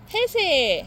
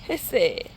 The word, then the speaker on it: 해세: 해세 햇새. 아니야 해세. 아, 그래, 햇새. 중요하지. 없는 발음을 왜 넣어?